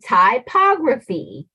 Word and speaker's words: typography: correctly all right so repeat after me Thai pog ra V now you say it very good and so we put it together and we say typography Thai paw C typography